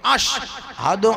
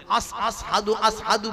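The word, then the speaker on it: أشهد: scene আর scene আর আযানে যে উচ্চারণটা হবে আযানে যেটা বলা হবে সেটার ভিতরে এই সিনটাই হবে আশহাদু আন্না মুহাম্মাদুর রাসুলুল্লাহ এটা উচ্চারণ হবে কিন্তু হুজুর এটা উচ্চারণ করতে পারতেন না এত আঘাত করে দিয়েছিল জীবেন বলতেন আসহাদু বলতেন এতে করে কিছু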